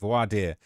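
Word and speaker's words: voir dire: uh pronounced vo voad vo vadier voad that's how it's pronounced voadier um so voadier and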